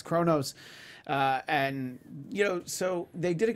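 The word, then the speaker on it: Qo'noS: It's spelled Quonos. I had the closed captioning on when I was watching it, so it's with the Q, and but it's Kronos, and so they did a good job explaining it.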